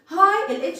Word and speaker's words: high: high الجي اتش دي بنطقها high. اوكي ما بيتنطقوش يعتبر بنطق الاتش and I وما بنطقش الجي اتش بقول high.